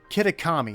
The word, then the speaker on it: Kitakami: you say this hold up I I can't mispronounce it again when it's right here kitakami okay there I don't know why I started